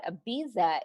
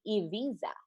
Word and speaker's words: Ibiza: Guys, so for special segment, I have some fun facts, and I thought we should learn a little bit more about Ibiza itself, since this is exactly where the show is taking place.